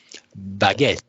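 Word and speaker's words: Baget: Well, Antoine pointed me to another solution, and I saw that Hanselman blogged about it, which is Baguette, B-A-G-E-T, but pronounced as the baguette, the bread in French.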